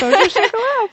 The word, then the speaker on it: Vosges Haut-Chocolat: We are at the Vosges Haut-Chocolat. Did I pronounce that right? Vosges Haut-Chocolat.